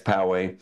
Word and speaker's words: Poway: If you know how to pronounce it, then you're definitely a local. But it's not Poway, it's Poway.